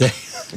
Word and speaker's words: Zaia: I almost convinced myself that it was Zaia, but then I was like, wait, no, it's Zaia.